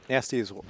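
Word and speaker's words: Gnasty's: And that means we're almost at Nasty's world. The G is silent, by the way. For whatever reason. In both Nasty and Nork.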